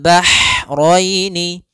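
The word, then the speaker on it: الْبَحْرَيْنِ: Kemudian bahraini, ha, ini hanya ha kecil, hati-hati jangan terbaca dengan ha besar, jangan marajal bahraini, jangan, karena dia huruf ha kecil.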